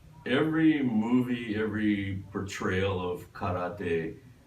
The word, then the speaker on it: karate: every portrayal of karate, it's always karate. Yeah, karate. Yeah. And then we're saying karate is how you pronounce it. And obviously, we speak Japanese. Oh, I speak Japanese. I went to school in Japan. Karate is how you're supposed to say it, but they say karate.